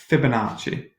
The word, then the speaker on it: Fibonacci: thought to get fun it's called at the Fibonacci sequence okay so fib oma CCI pronounced Fibonacci it's where that sum of the two previous